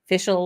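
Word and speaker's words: Fèis Ìle: I'm butchering it but it sounds phonetically it sounds like ficial like official but ficial kind of anyway so if you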